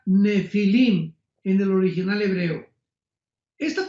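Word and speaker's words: Nephilim: es la palabra nepil con n de Nancy y pH intermedia Ne pilim se pronuncia nefilim en el original hebreo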